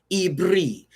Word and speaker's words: Ibri: that which is how you say Hebrew in Hebrew. Ibri literally translates to iberite.